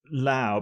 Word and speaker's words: Laos: way round it is, but I think the correct pronunciation is Lao, because it's the French, and then people come in and start saying Laos.